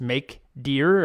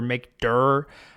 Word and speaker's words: mkdir: So, to make a directory, the command is make deer or make durr, I guess I guess you pronounce it directory. So, make durr. I always say make deer in my head. It doesn't matter.